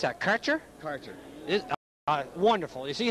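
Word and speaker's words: Kärcher: How do you pronounce that? Karcher? Karcher.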